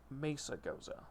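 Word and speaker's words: Mesagoza: do know that for the actual pronunciation of the city then it's Mesa goza just because well but I have said it as messagosa since the game came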